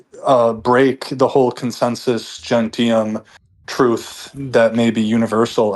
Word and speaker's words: gentium: Uh for example, like the consensus gentium, is that how you pronounce this?